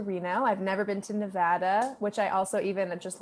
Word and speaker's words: Nevada: i've never been to nevada which i also even just learned not just but the first time i spoke to you that it's even pronounced nevada not nevada so i'm a real